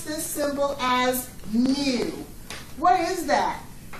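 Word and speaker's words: μ: okay our symbol for our population mean we pronounce this symbol as mu what is that it's basically you guys your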